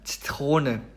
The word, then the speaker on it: Zitrone: 이거는 이제 제가 저렇게 슬래시를 해놨는데 이제 치읓 발음과 쌍지읒 발음의 그 중간 발음 정도로 생각을 하시면 되겠습니다. 그래서 이제 단어를 읽어보면은 Zitrone 이렇게 얘기를 합니다.